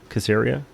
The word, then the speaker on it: Kaziria: one number ten kaziria i actually like this one casseria that's how you say it and we got vardal